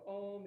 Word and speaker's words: Om: So Om is phonetically A-U-M. And then you bring your lips together for the So one more.